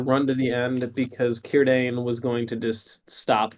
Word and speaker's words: Círdan: It's Círdan. Sorry, Círdan. Here I am pronouncing it Círdan. Yeah. Who knows? C's in Elvish are always pronounced as K's, so you have Are they?